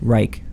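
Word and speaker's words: Wrike: Rike. How do you spell it?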